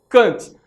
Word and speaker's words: Kant: O Baumgarten, galera, ele teve uma influência decisiva em relação à filosofia de Immanuel Kant, ou em alemão a pronúncia Kant, não é?